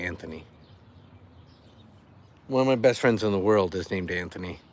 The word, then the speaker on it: Anthony: So yes, I definitely say the TH, so I say Anthony.